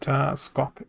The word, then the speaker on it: Skok: Same reason I've put Skok Duskblight there. Skok. Like Spock without the P. Skok. Skok. That's how I'm going to pronounce it.